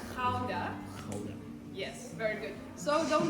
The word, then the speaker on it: Gouda: Actually, the correct pronunciation of this name in Dutch is Gouda. Yes, so you know it as Gouda, but we Dutch people, we say Gouda.